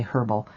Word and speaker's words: herbal: The dance of projection, a herbal hall of mirrors. I know in in England you say herbal. Here in the states we the H is silent.